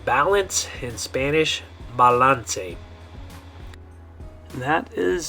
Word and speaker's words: balance: So this word in English you would say balance, but the way you're going to pronounce it in Spanish is balance.